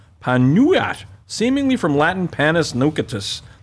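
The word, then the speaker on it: pan nogat: The word nougat comes from the Occitan pan nougat, pronounced panuat, seemingly from Latin panis nucatus.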